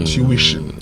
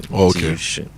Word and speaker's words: tuition: is actually a threecllable word. Tuition. Tuition. Yes. Tuition. Tuition. So the stress is actually on the second syllable.